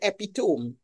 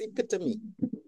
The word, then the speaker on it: epitome: said a word there you said epitome the pronunciation is epitome and then later on